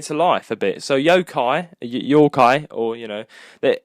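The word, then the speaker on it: 妖怪: life a bit so Yokai Yokai or you know that uh it's pronounced in Japanese Yokai it's a Japanese monster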